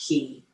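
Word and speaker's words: 気: The Chinese qi is pronounced ki energy in Japanese, and it's a very different concept.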